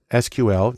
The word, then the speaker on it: SQL: The most common language there is SQL, usually pronounced SQL, which stands for Structured Query Language, because that's where the data is.